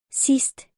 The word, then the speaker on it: sidst: Examples of words where D is silent when it is followed or combined by letter S are Klods. Bedst. Sidst. Plads.